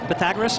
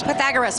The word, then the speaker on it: Pythagoras: Pythagoras. Pythagoras. Thank you. Like the Pythagorean theorem, right?